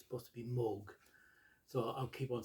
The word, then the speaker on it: Moog: that right but it's the way i've always pronounced it before i heard that it's supposed to be moog so i'll keep on saying moocs if you don't mind and i show this